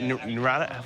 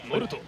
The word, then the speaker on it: Naruto: How do you, Naruto? What is it? It's Naruto? Naruto. Naruto? You have to say it like that. Naruto.